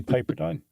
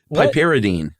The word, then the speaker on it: piperidine: Probably Piperdine. I think it's Piperdine. Those in the know who don't smoke PCP but study it. Oh, no, you got it wrong. Piperidine. Oh, I actually took out a syllable this time.